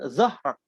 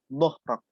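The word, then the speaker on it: ظهرك: sebagainya, membacanya sama anqadha dhahrak. Anqadha dhahrak. Ada yang bacanya anqadha zahrak. Sama. Do sama zat sama. Padahal itu beda.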